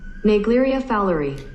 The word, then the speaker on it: Naegleria fowleri: Now before I butcher this name, this is how it's supposed to be pronounced. Naegleria Fowleri.